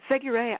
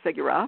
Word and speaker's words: Séguret: Seguret, I told you it rhymes with hooray, and I think you were thinking it rhymed with hurrah, so it's Seguret instead of Segura, but that's the only detail.